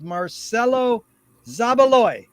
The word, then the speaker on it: Marcelo Zabaloy: a pleasure to be here here today with marcelo zabaloy is that the correct way to pronounce it yes sir yes sir very much